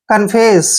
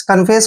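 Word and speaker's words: confess: को न पढ़ते हैं एफ ई को फे पढ़ेंगे और डबल एस का उच्चारण स करते हैं कन्फेस कन्फेस होता है स्वीकार करना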